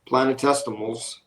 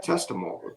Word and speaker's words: planetesimals: In young planetary systems, planetesimals Am I pronouncing that right? Testimal. Yeah, like infinitesimal is just really, really tiny.